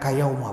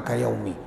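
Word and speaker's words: كيوم: Kalau yang ngerti nahwu membacanya kayauma, bukan kayaumi. Mengapa?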